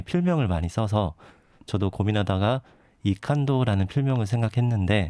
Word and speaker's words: 이칸도: 그런 활동가분들이 필명을 많이 써서 저도 고민하다가 이칸도라는 필명을 생각했는데 네. 영어로 하자면 I can do입니다. I can do. 네, I can do를 독일식 발음으로 읽으면 이칸도 이렇게 읽히더라고요.